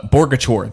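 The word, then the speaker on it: Boerkircher: Uh Bogachor. That's how you say it.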